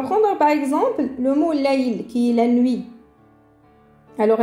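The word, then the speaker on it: ليل: Ça fait lay. Lay.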